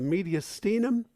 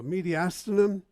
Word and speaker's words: mediastinum: It sits in a structure called the mediastinum, or mediastinum, depending on how you want to pronounce that.